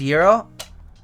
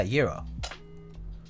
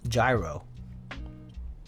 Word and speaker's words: gyro: like other meats too so it's pronounced Euro yeah Euro not not gyro hero that is far smarter